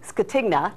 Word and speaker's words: Scatigna: We have joining us this morning is a financial expert and the author of The Financial Physician, Lou Scatigna.